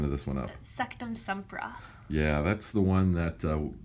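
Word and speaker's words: Sectumsempra: megan say this because i always mess the pronunciation of this one up sektum sempra yeah that's the one that harry found out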